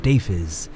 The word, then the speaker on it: Deiphiz: Greetings viewers, as you can see my name is in the intro and it is pronounced Deiphiz.